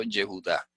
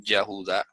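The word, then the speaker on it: יְהוּדָה: Entonces quedó Yehudá. Nadie va a decir Yahudá. Eso sería un error garrafal. Entonces se pronuncia Yehudá. Yehudá, así es como se pronuncia.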